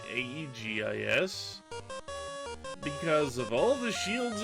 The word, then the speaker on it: aegis: have an aegis shield even though it's spelled ae zis i'm pretty sure that's a translation error misspelling it probably should be aegis aegis because of all the